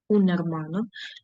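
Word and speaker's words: hermano: Х не читається унермано.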